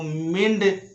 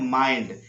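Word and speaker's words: mind: Next rule में है आई के बाद एनडी लगा हो। आई के बाद जब भी एनडी लगा हो तो आई का उच्चारण आई हो जाता है। जैसे इसको मिंड कभी मत पढ़ना, इसको पढ़ना है माइंड। इसको फिंड नहीं पढ़ना है, इसको फाइंड पढ़ना है।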